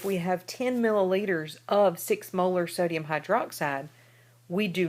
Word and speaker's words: molar: hydroxide and again 6.0m what we we say is six molar you don't say six marity we we would pronounce that six molar uh what that means